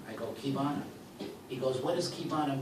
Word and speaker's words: Qivana: Pronounced as a key in a door. Although Asians say Qivana, it's actually Qivana.